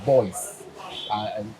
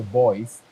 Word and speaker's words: Boyce: at the airport because they cannot pronounce Boyce and some of the territories because Boyce they pronounce it as two syllables, Boyce, right?